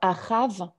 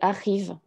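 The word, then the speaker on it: אחיו: Donc, on ne prononce pas Achav pour son frère, c'est Achiv.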